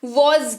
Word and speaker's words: was: सबसे पहले बात करेंगे वॉज की। WAS, इसको वॉज पढ़ते हैं। सबसे पहला चीज जो फोकस करेंगे वो उच्चारण है। वॉज इसको पढ़ते हैं, हल्का सा ज का साउंड आता है इसमें, तो वॉज इसको पढ़ते हैं।